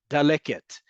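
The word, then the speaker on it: דלקת: The first one, you know what it is? Daleket. Daleket katelet. Katelet daleket. It rhymes together, right? So it's daleket, right?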